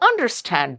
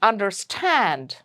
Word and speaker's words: understand: It's not, do you understand this? That would be wrong. So that would be a wrong stress and wrong way to pronounce that word. So it is understand, outsmart.